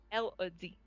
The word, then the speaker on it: Elodie: tw the twins and elodie el adi that's how you say it um now let's